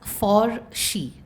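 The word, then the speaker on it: Forsche: something called forsh f-o-r-s-c-h-e it was a play on porsche p-o-r-s-c-h-e and we pronounced it as for she which was for her and all the uh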